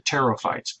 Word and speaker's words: pterophyte: It's pterophyte. Mimic saying a p, but don't do it, and then you've said the word right.